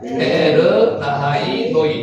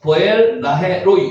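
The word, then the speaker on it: באר לחי ראי: 에르하이로이 시작 베에르하이로이 요거를 한글 발음으로 읽을 때는 보라헤로이 요렇게 보헤나에로이 그 실제로 읽을 때는 베에르 나하이 로이 요렇게 있습니다.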